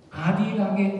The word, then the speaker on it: 아리랑: 그래서 여러분, 제가요 아리랑의 어원은 알이랑이다. 알이랑인데 여는 법칙 때문에 아리랑 이렇게 발음하는 거거든요.